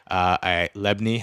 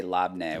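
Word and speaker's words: labneh: Lebni. Have you tried lebni? Yeah, but I say labne, which I'm now realizing is not the right way to say it.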